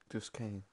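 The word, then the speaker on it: Duscae: Duskai. It's like sky, but it's spelled really, really weird.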